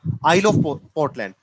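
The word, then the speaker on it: Isle of Portland: हाँ, यहाँ पर एस साइलेंट रहता है ना, आइल ऑफ पोर्टलैंड।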